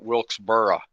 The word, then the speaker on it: Wilkesboro: I was thinking we were talking about Wilkesboro. Yeah, I grew up in Western Pennsylvania. We always called it Wilkesboro. Never said the O on the end.